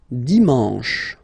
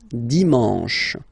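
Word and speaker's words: dimanche: S all right and the last one Dion Dion you get the sh sh sh sh and then a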